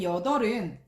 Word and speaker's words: 여덟: 3번의 여덟은 단어의 끝에 3번의 여덟은 단어의 끝에 리을 비읍이 오면서 리을로 발음이 되니까 여덟이라고 읽습니다.